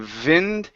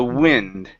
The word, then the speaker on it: wind: and the storms okay let's try a good W here instead of Vin it's ooh the O WI the wind the wind okay all right